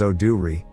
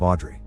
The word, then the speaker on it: Audrey: Park's house and asks to rent the room they're offering, telling them her name is Oh-do-ri, a mispronunciation of Audrey.